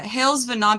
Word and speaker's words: hailsvhenan: thing to say you say it perfectly uh hailes venon people say venon or they Sayan um but